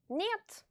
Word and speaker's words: Нет: This letter, which is written like in English H, is pronounced N in Russian. Нет.